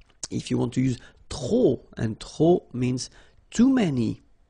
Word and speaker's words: trop: If you want to use trop, and trop means too many, okay? Then you will have to put de and the noun without the article. Okay, remember, too many, trop, don't pronounce the final P.